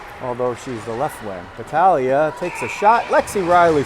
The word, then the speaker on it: Battaglia: I'll use the Italian pronunciation for any of the Italianish looking names like Battaglia. You might know her as Battaglia, so if you're on the St. James side and that's what you're used to, well, you're getting the Italian pronunciation today.